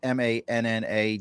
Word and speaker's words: Manna: You can find Manna, and it's Manna, Dave Rice, and Peter Quoy.